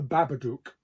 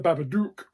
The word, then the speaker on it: Babadook: This is called The Babadook. I think that's how you pronounce it. Not the Babadook, the Babadook.